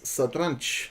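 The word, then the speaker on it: satranç: In Turkish, uh, the right pronunciation is sadranch, which which means chess.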